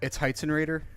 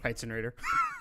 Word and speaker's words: Heitzenrater: Yeah, it's Heitzenrater. Heitzenrater? You wouldn't be the first one that's butchered it, so it's okay.